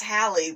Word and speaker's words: Halle: So I was like, no, I don't think it's Halle, but yeah, that's how you actually pronounce her name.